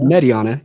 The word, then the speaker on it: Mediana: How's the proper pronunciation? Is it Mediana? Mediana, yeah.